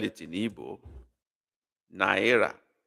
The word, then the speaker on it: naira: Nera, the same thing. I think the English and Hebrew version is the same. They sound alike. Nera, not Nara.